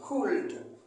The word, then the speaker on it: could: Could. Mais le L ne se prononce pas.